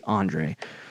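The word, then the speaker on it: D'Andre: If you're listening and you're sitting there spelling DeAndre Swift's name wrong, it's not DeAndre like DeAndre Hopkins. It's Andre.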